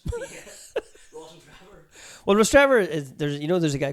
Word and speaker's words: Rostrevor: neck of the woods how you pronounce the place that's near Warren Point. It's known for very nice Kodak corners there. Rostrevor. See, I don't like that. I look at it like Ross Trevor.